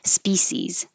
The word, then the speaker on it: species: this s i mean the ci makes a sh sound but you it's okay to use an s species is a alternate way species species banana very american